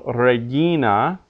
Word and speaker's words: Regina: or the rather the second last we'd say suppose so Regina pecunia because the second last syllable in each case is long Regina pecunia but Agricola